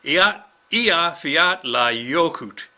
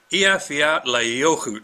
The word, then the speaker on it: Eyjafjallajökull: Eyjafjallajökull. Eyjafjallajökull. Sounds like you forgot la yogurt, but anyway, that's supposed to be how you pronounce it.